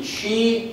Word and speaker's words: Qi: connections it utilizes the chi technology it's Qi pronounced Chi this is the most